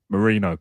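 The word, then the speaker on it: Merino: But I think it's Moreno. Oh, is it Moreno? Is that the pronunciation? Mikel Moreno? Marino. Sorry, my bad.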